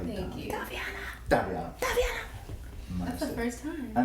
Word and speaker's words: Da'Vianna: leading up to the production, told us because Diavana goes to Chapel Hill and I live in Atlanta. You just said my name wrong.